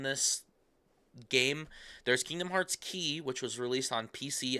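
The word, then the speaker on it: χ: Yes, not Kingdom Hearts X, Kingdom Hearts Key. It's an X it's spelled c h i.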